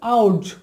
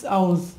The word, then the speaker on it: ours: আবার দেখুন ইটস আওয়ার্স, আমরা হয়তো বলতে পারি ইটস আওয়ার, না আওয়ার বললে ভুল হয়ে যাবে, এখানে ইটস আওয়ার্স বলতে হবে, এসের উচ্চারণ জেড এর মতো হবে, ইটস আওয়ার্স।